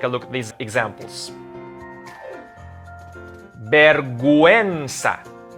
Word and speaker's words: vergüenza: But once we see that diaresis on top of the U, we have to pronounce the U. Take a look at these examples. Vergüenza.